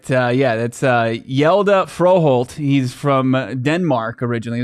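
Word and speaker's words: Hjalte Frøholt: I'm gonna let you pronounce this young man's name. All right. That's Hjalte Froholt.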